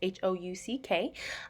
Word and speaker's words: Houck: One of the books is Tiger's Curse by Colleen Hook. I'm not really sure how to say her last name. It's Houck.